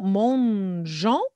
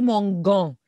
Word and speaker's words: mangeant: Alors, on va conjuguer verbe manger avec le nous, mangeant. N'oubliez pas le E pour la prononciation. Alors, without this E, it will be mangan.